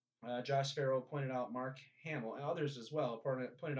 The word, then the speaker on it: Hamill: But yeah, Mark Hamill. I always knew it as Hamil, but it's Hamill. Hamill. I mean, it's probably pronounced Hamill.